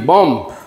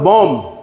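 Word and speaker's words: bomb: করে হ্যাঁ যেটা হলো বি ও এম বি বম এটার উচ্চারণ হলো বম বম কম যেটা হলো কম এটার উচ্চারণ হবে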